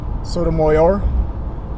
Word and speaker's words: Sotomayor: Now, this is the one instance I can imagine that I actually agreed with Sotomayor. That's how you pronounce her name.